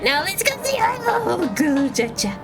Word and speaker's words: Golbez: Now, let's go see our Golbez. It's not Golbez, it's Golbez. Just one bez.